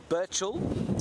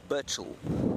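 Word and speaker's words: Burchell: in my poor pronunciation it's burel B Ur CH h e l burel and he was this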